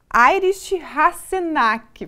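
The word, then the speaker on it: Heinrich Hasenack: Ele que já confirmou que é assim a pronúncia do nome, né, professor? Uma ótima tarde. Obrigada por ter aceito o convite. Boa tarde aos telespectadores, muito obrigado pelo convite, a pronúncia foi perfeita.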